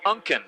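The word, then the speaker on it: Ankan: I had trouble pronouncing it, but it's pronounced Unken. It's spelled A-N-K-A-N, but pronounced Unken.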